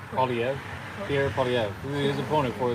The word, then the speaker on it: Poilievre: Polyev, Pierre Polyev, his opponent for the.